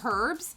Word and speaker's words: herbs: say herbs not herbs the H is silent right the H is silent it is it's an